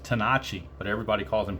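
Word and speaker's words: Tenace: you know original was tenachi but they anglicized it to to tennis but i believe it's you know i guess from italian roots or whatever it's actually pronounced tanachi but everybody calls them tennis it's just kind of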